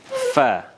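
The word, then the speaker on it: ف: Sekali lagi, pengucapan huruf fa, yakni bibir bawah bagian dalam bertemu dengan ujung gigi atas. Fa. Ketika berharokat fathah, kasrah menjadi fi, kemudian dhammah menjadi fu dengan membulatkan bibir.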